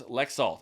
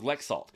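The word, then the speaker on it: Laxalt: You've got Masto versus Lexalt, I believe is how you say it. Masto versus Lexalt.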